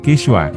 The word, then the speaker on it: Quichua: ditaklukan menggunakan bahasa nasional quichua diucapkan kiswa serta menyembah dewa negara